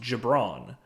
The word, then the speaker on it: Gibran: said this recorded before I was told it's pronounced jibron Gibran we apologize um uh yeah your name just doesn't doesn't sound like it's spelled so that's yeah and also